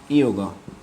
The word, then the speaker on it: যোগ: যৌগ মানে সংস্কৃত ভাষায় বা ইংরেজি ভাষায়ও অন্তজকে ইয় উচ্চারণ করা হয়, ইয়। তো সেই হিসাবে অন্তজ ওকার মানে ইয়, আর অন্তজ ওকার গ সমান সমান ইয়োগ। তাহলে আমরা বিষাদ যোগ না বলে কি বলবো? বিষাদ ইয়োগ। অন্তজটা হচ্ছে ইয়, আর ওকার হলে ইয় হচ্ছে, আর যখন অন্তজোকার গ হয় তখন ইয়োগ হবে। তো এভাবে আমরা উচ্চারণ করব বিষাদ ইয়োগ।